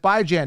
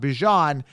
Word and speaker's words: Bijan: you by Jan Robinson pronounce it by Jan not Bijan uh Javonte Williams Breece